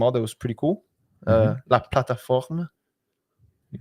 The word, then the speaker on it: La Plateforme: How should we pronounce this in French? La plateforme. Oh, La Plateforme.